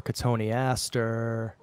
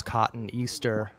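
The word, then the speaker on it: Cotoneaster: well and then more katoni Aster which everybody pronounces cotton Easter all right it's like the biggest pet peeve of mine and uh not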